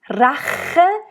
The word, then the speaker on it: Rache: You want to make really sure here to roll the R.